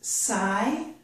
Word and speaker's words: sigh: In this word, by the way, this is sigh. We do not pronounce the letters G and H.